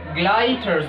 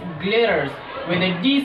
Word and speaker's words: glitters: Some people pronounce this word gliders, which is completely wrong, and I've heard from so many educated people, they pronounce this word glitters, okay, with a T sound, which is also incorrect. So the correct pronunciation of this word is glitters with a D sound.